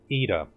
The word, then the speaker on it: Yda: Okay, it's pronounced Ida. YDA, Ida. I don't know why it's pronounced E-da, since you have a Y in there.